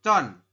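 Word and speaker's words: 천: Ribuan itu bunyinya adalah con. Ya. 1000 bunyinya adalah con, teman-teman. Ingat-ingat ya. Kalau 100 tadi back, kalau 1000 adalah con.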